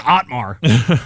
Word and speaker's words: Otmar: He's over there looking at the name and trying to like phonetically trying to pronounce it out. You know, the first one's easy. It's Otmar.